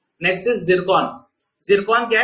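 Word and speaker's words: Циркон: इसको वैसे रशियन में TS जिरकॉन ऐसे लिखते हैं बट अगेन प्रोनाउंसिएशन जिरकॉन होता है।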